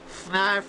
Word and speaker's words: Fnarf: You know Fnarf is looking for you. Fnarf rhymes with barf.